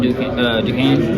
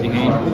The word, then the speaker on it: Duquesne: If we end up beating Duquesne, that's how you pronounce it, right? Duquesne. Yep. Yeah, Duquesne. Tricky word, but even if we do